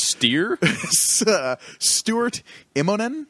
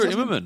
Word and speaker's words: Stuart Immonen: Stuart Immonen is how you say it? Stuart Immonen.